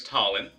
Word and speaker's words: Talon: So first off, my name is Talon, which sounds like Colin, but with a T instead of a C.